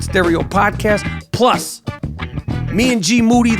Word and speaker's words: Moody: Plus, me and GMoneti, last name rhymes with duty, are going to be talking about the monkeys down in Florida that are giving human beings herpes.